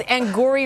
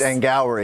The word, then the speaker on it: Angourie: You said it that because you didn't know how to pronounce her name. I don't. It's Angourie rice. It's Angourie.